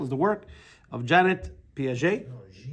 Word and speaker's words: Piaget: to figure out how if it's a French name and I brought the ET over to it yeah Jean yeah Jean Piaget I feel more intellectual